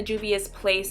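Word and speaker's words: Juvia's Place: now for what con so I'm using the dubious place saharan palette and I'm pronouncing it correctly in the shade Yara and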